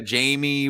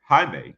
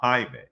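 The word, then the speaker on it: Jaime: it was like a Jamie but he just different Hispanic Hispanic Hae it's spelled Jamie it's Hae because I like think like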